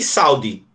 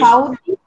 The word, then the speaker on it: saúde: Só que a palavra é saúde. Saúde tem quantas sílabas? Três. Três. Então, eu vou ter que separar aqui.